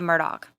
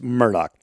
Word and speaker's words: Murdaugh: extensive research on this they say murdock like it's not that's just the way it's said down there we've checked it out so it is murdoch also your main subject